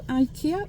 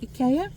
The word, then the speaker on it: IKEA: all up um so yeah let's go to IKEA or Ika and um have a little wander around not